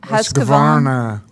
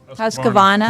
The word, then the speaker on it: Husqvarna: Husqvarna. Husqvarna.